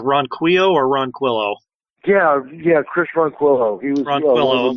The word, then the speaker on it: Ronquillo: And excuse me if I'm pronouncing his name wrong. Is it Ronquillo or Ronquillo? Yeah, Chris Ronquillo.